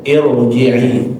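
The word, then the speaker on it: ارجعي: IR irji'i tebal tebal dibacanya. Ada lagi kata bahasa tebal ada lagi yang mau bilang tipis. Tipis tipis kata ya. Nah, jadi bacaannya di irji'i itu adalah tebal.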